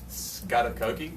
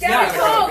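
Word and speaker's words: Scaghticoke: It is like Scatacoki? Almost! so Almost! Scattercoke! Yes. Nicely done.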